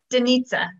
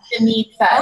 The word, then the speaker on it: Denitza: Denitza. Really? Denitza, so she says, okay, Denitza's gonna shoot me if I say this wrong, but it rhymes with pizza. Yeah. Okay. Denitza, okay.